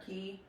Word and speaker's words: acai: Is it how you say it? Acai or a key? ACAI, acai. That's how I say it.